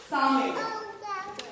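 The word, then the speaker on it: Samhain: असल में हैलोवीन का जो नाम है वो सैमी है, SAMHAN, सामे।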